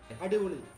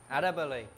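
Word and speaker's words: അടിപൊളി: Adibuli. Adibuli.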